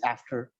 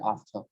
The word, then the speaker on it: after: Now, if you take it in the American way, it's after, right? They roll the R and they pronounce the A as A, right? So yeah, they'll say after, right? If you take the British pronunciation, they'll pronounce the A as A, right? They'll say after. They will not pronounce the R.